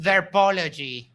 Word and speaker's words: derpology: You mispronounced derpology. Ether derpology.